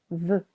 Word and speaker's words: veux: Je veux. Tu veux. Both have a silent X.